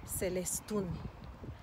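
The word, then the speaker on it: Celestún: And a beautiful one here in the Yucatan is called, it's a town, Celestun. Celestun. Why Celestun? Because the emphasis is on the last syllable with the U because of the accent.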